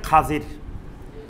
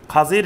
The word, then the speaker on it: খাজির: হাদিসে তার নামটা আসছে খাজির খাজির নামে যেটা আমাদের পরবর্তীতে রূপান্তর হয়ে খিজির হইছে কিন্তু এটার সঠিক উচ্চারণ খাজির খাজির নামে এক ব্যক্তির